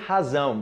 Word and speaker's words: razão: Só é lembrar da pronúncia do inglês, ok? Z, o Z, letra Z em inglês. Z, razão, zão, razão.